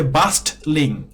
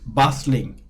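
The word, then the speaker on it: bustling: অর্থ দেয় তো আর আরেকটা বিষয় হলো যে এখানে বাসলিং এর টি টা সাইলেন্ট থাকবে আপনি এটা বলতে পারবেন না যে বাস্টলিং আপনাকে বলতে হবে বাসলিং টি টা সাইলেন্ট থাকবে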